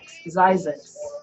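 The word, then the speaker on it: Zzyzx: Spell it again. Z-Y-Z-Z-Y-X. Zyzik.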